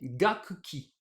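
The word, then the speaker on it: 楽器: Alors, les lectures sino-japonaises sont gaku plus ki, ce qui devrait nous donner gakki.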